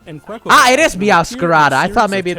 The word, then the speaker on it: Meowscarada: Ah, it is Meowscarada.